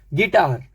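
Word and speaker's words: guitar: हैं बोल सकते हैं प्रैक्टिस कर सकते हैं गिटार जी यू आई यू के बाद आई गिटार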